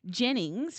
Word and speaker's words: Jeyns: I'm just going to say, though, just in case you have a pen and paper, Jennings, which is David's surname, is spelt differently. So it's spelt Jeyns.